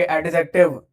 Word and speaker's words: adjective: ए और जे के बीच में अगर डी आता है तो ये साइलेंट हो जाता है, ठीक है। तो इसको एडजेक्टिव नहीं पढ़ते, एडजेक्टिव पढ़ते हैं।